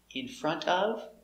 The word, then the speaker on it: in front of: Now, when you say it fast, in front of, the T is silent.